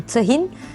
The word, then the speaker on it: tahin: yağlı bir yiyecektir malum tahin tahinde ağ sesi Uzamaz yani tahin değil tahin şeklinde A sesini kısa telaffuz etmemiz gerekir en çok tahin pekmezle